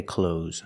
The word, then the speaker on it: clothes: I didn't either and I don't make the th sound when I speak I say clothes I'm wearing clothes I